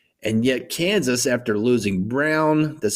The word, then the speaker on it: Braun: And yet Kansas, after losing Brown, that's spelled Braun, and after losing Agbaji and losing